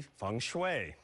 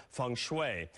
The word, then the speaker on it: feng shui: karma in our studio today it must be Fung Shui it is actually pronounced different ways you may have heard it as Fung Shui thanks way Fung shooey for our show we will go with what